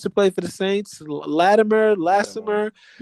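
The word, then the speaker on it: Lattimore: Latimer last summer. You said it right. Marshon Latimore.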